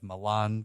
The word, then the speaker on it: Milan: So we have Paris, we have Milan Cortina, that's how you say it, and then Los Angeles.